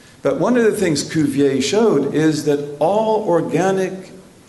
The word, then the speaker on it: Cuvier: is a French biologist whose name is George Cuvier Jones is the French for George except they put an S at the end or that they don't pronounce and then his name is Cuvier which is CUV ie arm this man is